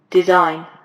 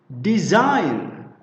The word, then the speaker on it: design: This one is pronounced design with z, design.